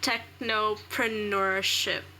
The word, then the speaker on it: technopreneurship: subway tech club what is i can't even pronounce the word it's such a mouthful technopreneurship am i saying it correctly yeah you are